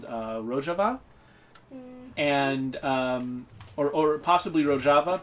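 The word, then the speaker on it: Rojava: to pronounce it but a lot of people assume that it was called ro hava because they thought that Jay would pronounce like an H and I'm like serious really far from Mexico I'm pretty sure that they don't use Spanish pronunciation conventions there yeah so you're way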